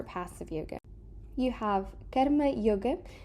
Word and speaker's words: Karma: You have Karma Yoga. Notice that this is pronounced karma, sort of with a closed A, and not karma, as we usually tend to hear often spoken in mainstream media.